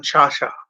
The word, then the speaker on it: Carcia: And to the late actor John Chacha. His last name is spelled Carcia. Cha-cha, which is in quotations, is the close representation of how his last name is pronounced.